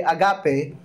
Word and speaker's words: agape: Paul us the ancient Greek word agape or yung tamang ah bigkas po ay agape.